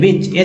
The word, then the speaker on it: which: Silent है, ठीक है, which H साइलेंट इसमें याद रखिएगा।